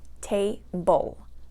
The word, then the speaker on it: table: So the first syllable is going to take the stress. Table. Table. Okay, we don't say table. We say table. So the stress, the force or the strength or the loudness in your voice is coming on that first syllable.